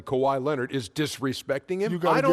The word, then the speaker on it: Kawhi: so so now saying a guy's name correctly Kawhi Leonard is disrespecting him you the whole name